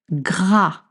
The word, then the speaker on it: gras: Sucré gras gras. Gra with the gr sound.